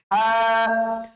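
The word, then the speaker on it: ه: তারপরে হরফটা হচ্ছে হ। হটা উচ্চারণ করার জন্য আপনার সেই কণ্ঠনালীতেই ব্যবহার করতে হবে, তবে কণ্ঠনালীর শেষাংশের দিকে যেতে হবে। কণ্ঠনালীর শেষের অংশ থেকে আপনি উচ্চারণ করবেন হ। হ। উচ্চারণটা যত ভেতর থেকে নিয়ে আসতে পারেন আপনি, আপনার এই হ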